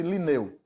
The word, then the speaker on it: Lineu: dessa taxonomia é Lineu o nome dele é Carlos Von liner para nós mas pronuncia-se Lineu as regras da classificação